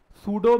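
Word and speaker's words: pseudo: नाम है सूडो force सूडो में पी साइलेंट है दिखता नहीं है अपनी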